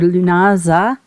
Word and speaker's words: Lughnasadh: the metaphysical or lunasa as we pronounce in English or llamas depending on